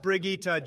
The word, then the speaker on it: Brigitte: in a and moving on unbelievable we have Bridget next it's pronounced Brigitte Jesus Christ Barack and you